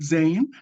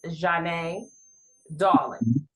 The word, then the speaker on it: Zhané Dawlingz: Did I pronounce your name right Zane? So the so the correct pronunciation is Jane Darling.